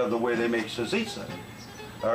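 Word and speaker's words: salsiccia: they're very proud of the way they make sazisa all right it's the way you really pronounce the word of soul zicha so so everybody understands me out there that's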